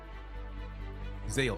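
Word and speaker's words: Xale: Is it Shale? Zale? I want to say it right. So, I've seen X's pronounced as like shh, like a sh sound or a Z sound.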